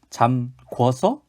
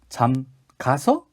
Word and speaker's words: 잠가서: 어떤 게 올바른 발음이 되겠습니까? 잠그다. 어디까지가 어간이냐 하면은 잠그까지가 어간이죠. 잠그고, 잠그니, 잠과서, 잠궈서, 잠가서, 잠가가 맞는 표현입니다.